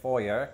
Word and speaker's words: foyer: I'm standing right here in the foyer, or as it's pronounced in American English, foyer.